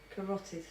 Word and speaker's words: carotid: I can't even see how it's spelled. Karthoid. Carotid.